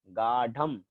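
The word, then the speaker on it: गाढम्: गाढ़म, ढ ढ, गाढ़म।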